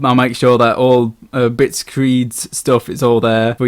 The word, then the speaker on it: Bitscreed: Screed as in angry ranting, not bitscreed the awful band.